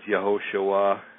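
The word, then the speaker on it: יהושע: the Hebrew alphabet, and anything that's usually spelled with a J is usually starts with a Y in Hebrew. For instance, Jerusalem is Yerushalayim, Joshua is Yehoshua, so on and so forth.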